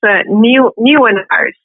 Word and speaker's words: Nieuwenhuis: Give the people the correct pronunciation of your last name. Yeah, that's Nieuwenhuis, and it means new home in Dutch.